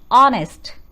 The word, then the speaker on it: honest: an honest man here the spelling starts with h but the pronunciation is honest sound comes from the